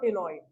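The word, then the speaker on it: ctenoid: कॉन्ड्रिक these के अंदर placoid और ऑस्टिक थीस के अंदर साइक्लॉइड और टिनोइड। ठीक है, सी साइलेंट है।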